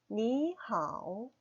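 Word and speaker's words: 你好: 말해서 안녕하세요 라는 뜻입니다 니하오 5 2 삼성 이고요 하우 삼성입니다 이렇게 삼성이 2개 연달아서 오면 앞에 삼성이 이성 으로 바뀌게 됩니다 바른 편에서 2성 3성 으로 발음 하게 되요 표기는 삼성 삼성 으로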